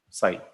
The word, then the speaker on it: psi: Psi, the way of writing it is this one, psi. So reading is psi, but the spell is psi. So P is silent, psi we use that.